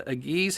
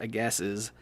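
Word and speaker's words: Agassiz: decided to purchase the aggies harrison advance actually i think that's pronounced a gases harrison advance and it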